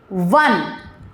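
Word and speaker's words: one: कसोनेंट sound है जहां पे हमारा फर्स्ट वर्ड साइलेंट होता है। एग्जांपल इव वन आइड वन।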